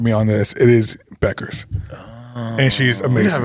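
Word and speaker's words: Bueckers: went for 40 That was for Buchers. UConn. No, it's spelled that way. That's why I always said it. It's Beckers.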